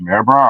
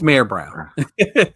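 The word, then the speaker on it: Mayer Brown: Brown oh look at you it's pronounced it's pronounced May Brown I thought it was May Brown No it's it's mayor it's Mayor Brown trust me I know you know yeah Mayor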